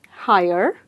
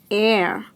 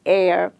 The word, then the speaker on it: heir: Higher, or here, or here? You will be surprised to know this word is pronounced simply as air. Surprised? Precisely. It is pronounced as air.